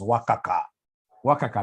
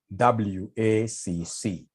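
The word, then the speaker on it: WACC: the question advise the company on the optimal WCC how do we get this w can somebody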